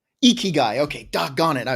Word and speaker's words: ikigai: to mispronounce it but the ikea guy did i say it right did i say it right yeah say it you iggy guy ikigai okay doc got it